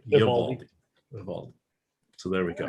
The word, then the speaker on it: Eovaldi: It's not Eovaldi, it's Eovaldi.